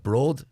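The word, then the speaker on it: Bród: Broad, would that be the correct pronunciation? That's right, yeah, you've got it. Broth.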